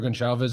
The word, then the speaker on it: Gonçalves: I love Pedro Gonçalves as well. Or it is a soft C. It's not a hard C, I'm pretty sure, in Portuguese. So Pedro Gonçalves, yeah.